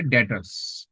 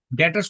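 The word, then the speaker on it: debtors: है ठीक है ना तो एक टर्म आती है डेटर्स ये बी साइलेंट रहता है इस डेटर्स कौन लोग है डेटर्स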